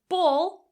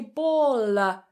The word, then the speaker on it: ball: Notice that with ball, it's not released, I don't say ball-a, ball.